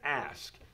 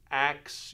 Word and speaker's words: ask: of the country where people will say I want to axe you a question and basically the reverse this K and this s ask becomes axe and that